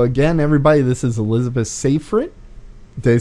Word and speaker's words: Safrit: December 14th so again everybody this is elizabeth safer it they say it right I said it right